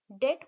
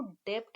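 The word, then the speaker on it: debt: लिख रहे हैं डेट, डेट बोलते हैं इसको, डेप्ट नहीं बोलते हैं। यहाँ पर भी हमारा साइलेंट रहता है।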